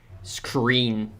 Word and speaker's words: screen: Screen. It's pronounced R, screen with an R, not with a W.